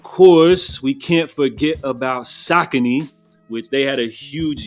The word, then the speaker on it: Saucony: was talking about sakon which I used to pronounce sakone so this is the first year they're making so much noise that I had to actually learn how to pronounce their name correctly now when it comes